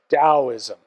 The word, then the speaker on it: Daoism: civilization and culture namely Daoism now notice I pronounce it like a d though you'll usually see it spelled with a t but it's pronounced da